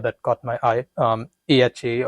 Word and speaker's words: AHA: caught my eye um AHA or is it pronounced aha yes aha so um talking